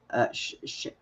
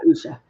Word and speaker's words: Usha: Usha, isn't it? Yeah, Usha.